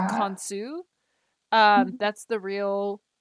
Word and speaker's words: Khonsu: Okay, it was Khonshu. Or Oh, technically Khonshu. it's Yeah. Khonsu. That's the real pronunciation.